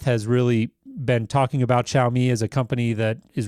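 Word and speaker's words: Xiaomi: it's interesting you mentioned I think you pronounced it show me Seth and I have a lot of ongoing jokes on the show because I'm terrible at pronouncing this - I think it's chow me Seth did I get it right that time yep that's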